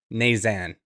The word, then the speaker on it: Knazan: Today, I've got my friend Ari Knazan. And I pronounce the name like that because for years I've known him as Ari K, and his last name is spelled KN, which is silent K, so I've screwed it